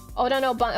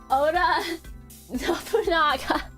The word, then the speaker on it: Oda Nobunaga: Oda Nobunaga. Chat, there is an agent in Chernobyl that is spelled Nobunaga like that, but I call him Nobunga.